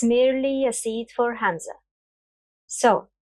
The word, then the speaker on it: همزة: Hamzah. Hamzah. To pronounce it, try saying Adam, Adam. And pay attention to the catch in your throat as you pronounce the first letter.